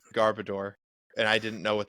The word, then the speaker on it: Garbodor: It's garbage and odor. I've always said Garbodor, and I didn't know what they were going for.